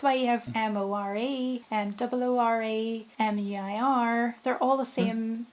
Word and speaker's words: Muir: But if it's M-I-U-R, it's Muir, right?